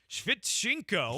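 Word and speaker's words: Sviatchenko: Former Celtic and current Dynamo defender Eric Svitchenko. Svitchenko.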